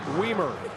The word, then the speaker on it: Weimer: By the way, the judge is in place, Professor Weimer. Which rhymes with he looks Wiener.